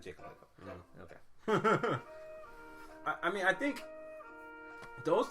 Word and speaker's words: Lacob: Joe Lacob. Got the general manager for the Warriors, Joe Lacob. Joe Lacob. I said Jacob Lacob.